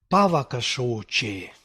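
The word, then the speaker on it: pāvakaśoce: Pavakashoche. This is the vocative case. You see the stress is on the first syllable.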